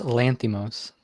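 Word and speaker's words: Lanthimos: directed 2015's the lobster that is your ghost lanthum oz that is correct tough name to pronounce but he nails it number two who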